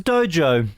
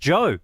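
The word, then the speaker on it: Djo: Australia and that was Dojo it's Joe actually how's it pronounced pronounced Joe yeah I know it's weird it's DJ o and do you know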